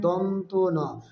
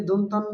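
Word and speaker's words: দন্ত্য ন: ধ হলো মহাপ্রাণ বর্ণ বাতাসে চাপ বেশি থাকবে তারপরের বর্ণটি হল দন্তন এটার সঠিক উচ্চারণ হবে এ বর্ণটি সঠিক উচ্চারণ হবে দন্তন অনেকে দন্তান্য বা বিভিন্ন ভুল উচ্চারণ করে থাকে সঠিক উচ্চারণ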